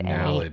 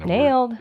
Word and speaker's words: Naled: It's called Naled. Naled. That's how you pronounce it. That's what I was really asking you to say again, because again, nailed. That's what I kept saying in my head. I'm like, they sprayed nailed.